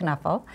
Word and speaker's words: Knuffle: And he's written Knuffle Bunny, it's pronounced Knuffle. Because he's Dutch. Mo Willems is Dutch.